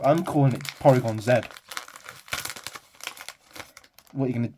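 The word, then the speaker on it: Porygon-Z: Porygon Z damn see I think it's Zed right because in in hisum 11 when they do the move triangle Zed they call it triangle Zed they don't call it triangle Z so I'm calling it Porygon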